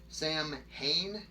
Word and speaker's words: Samhain: pre-christian celtic festival that's the celtic festival of sam hayne s-a-m-h-a-i-n if i'm pronouncing it right or wrong i don't know